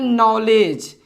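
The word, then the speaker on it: knowledge: उसी प्रकार से हम बोलते हैं नॉलेज।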